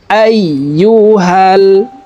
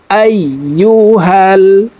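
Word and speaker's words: أَيُّهَا: তাসদিদওয়ালা হরফ দুইবার উচ্চারণ করিয়া পড়িতে হয়, একবার পূর্বের হরকতের সঙ্গে আর একবার নিজ হরকতের উচ্চারণ হবে। আইয়ুহাল, আইয়ুহাল।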